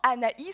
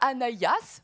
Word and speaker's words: Anaïs: je me dis moi il y a un hrema dans mon nom Anaï on dit pas anayas bon chacun le comme